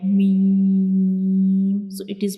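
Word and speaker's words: م: So this is the pronunciation of lam. Now we move to the next letter, that is meme.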